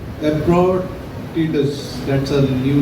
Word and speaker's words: Epaphroditus: That's Lansing and pronounce. Epaphroditus.